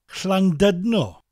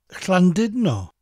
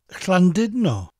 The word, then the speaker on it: Llandudno: pronounce it as dud, Llandudno. That letter U in Welsh has an I sound, so it's Llandudno. Llandudno. I'll slow it down. Llandudno.